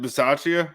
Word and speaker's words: Bisaccia: That's interesting too, because is it Bisaccia?